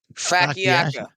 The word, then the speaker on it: focaccia: Chops, pronounce fucking this. That's the bread I'm talking about, but like Facciaccio? Facciacca.